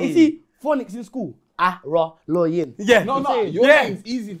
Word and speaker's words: Araloyin: Araloyin. Yeah. Your name's easy to pronounce once you read it. When somebody had said it to me, I was like, okay, let me try it. I said, Arlaine.